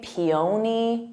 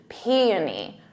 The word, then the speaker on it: peony: I see the spelling I want to say peon peon but it's PE p so emphasis on that P peony repeat that peony now